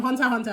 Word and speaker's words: Hunter x Hunter: Yes, so Nicholas from Hunter x Hunter. Apparently we're not supposed to pronounce the X, people.